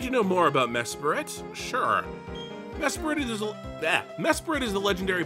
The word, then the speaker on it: Mesprit: I say Mesprit, which sounds wrong. It could be Mesprit. The being of emotion. Mesprit sounds too awkward.